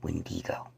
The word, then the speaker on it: Wendigo: live a malevolent being called a wendigo often pronounced wendigo now this creature may